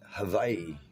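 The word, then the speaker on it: Hawaiʻi: it's ha Y and actually the W is a v sound a v like inv Victor Havi so then the I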